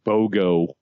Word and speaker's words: BOGO: And then I walk upon the BOGO.